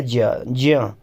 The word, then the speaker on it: ज्ञ: ज्ञ जिसको हम पढ़ते हैं ये होता है ज्य। तो इसमें ज है, य है और आ है, ये थोड़ा सा अलग सा इसका उच्चारण होता है।